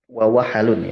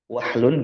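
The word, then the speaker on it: وَحَل: kitab I'anat Thalibin, dibacanya wawahalun bi fathil ha wa iskan wahalu watun radiah. Justru kalau disukunin wawahlun, wahlun gitu ya, itu bahasa yang jelek.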